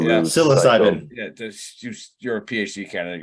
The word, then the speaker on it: psilocybin: So pay attention if you're into that voodoo psycho Philbin, however Bill said voodoo, it. Right? Yeah. Psilocybin.